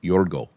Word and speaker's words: George: But when you're Greek, you pronounce G E O R G E. Yorgo.